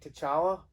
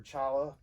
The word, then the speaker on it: T'Challa: have someone else play t'challa or chala i think the t is silent but like is that